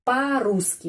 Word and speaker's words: по-русски: Это по-русски. По-русски penekanannya di sini ya, pada huruf U. Karena itu O ini menjadi pengucapannya A. По-русски.